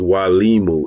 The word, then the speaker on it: Mwalimu: of meeting good brother W Liu I do want to emphasize the word is Wu it's a Swahili word family so the m is silent it's w Liu buti bman baruti uh